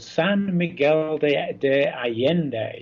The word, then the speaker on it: San Miguel de Allende: I'm in a place called San Miguel de Allende. This is the Mexican pronunciation.